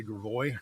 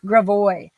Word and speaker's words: Gravois: Let's say Gravois. Gravois. Yeah, Bernie is the winner. How do you mispronounce?